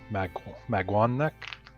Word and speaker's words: Maganac: Maganac Corpse, and fun fact, it is pronounced Magwanek. I'm sorry. Maguanek?